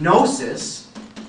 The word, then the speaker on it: gnosis: But Gnosticism is named after this Greek word gnosis, which means knowledge. In fact, you know, you can see in Greek the GN with the silent G becomes the KN in English with the silent K, right?